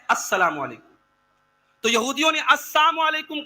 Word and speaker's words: السلام علیکم: صحیح تلفظ کیا ہے؟ السلام علیکم.